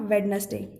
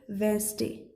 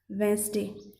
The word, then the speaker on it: Wednesday: This is not Wednesday. D is silent, so it will be read as Wednesday. Wednesday.